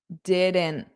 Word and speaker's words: didn't: So, notice didn't. Didn't. Mhm. Mhm. Mhm. So, I'm just not pushing out that T at the end.